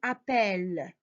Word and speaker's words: appelle: Alors, il double le L ou le T pour faire le son E. Alors, appeler, elle appelle. Elle appelle. Donc, avec elle, on doit rajouter double L pour prononcer le E, E.